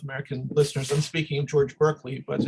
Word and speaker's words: Berkeley: I use, and by the way, for all my American and North American listeners, I'm speaking of George Berkeley, but in the UK, his name is pronounced Barclay.